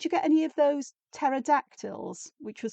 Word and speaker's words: pterodactyl: I said, "Yep, silent P at the beginning, pterodactyl."